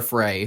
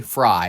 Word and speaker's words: Frey: Let's I want to get I want to get to Mayor Frey. Fry, excuse me. His last name is spelled F R E Y. So, it bothers me. Frey. It's Fry. It's spelled Frey.